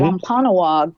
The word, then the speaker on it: Wampanoag: Wampanoag people shared an autumn harvest.